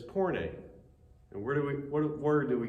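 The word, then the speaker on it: πόρνη: Pronunciation of this is porne.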